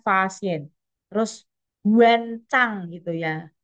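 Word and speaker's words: Faxian: Contohnya tadi, Fahien itu loh bacanya kan Fasien.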